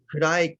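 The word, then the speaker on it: 暗い: So kurai consists of three syllables. Ku, la, I.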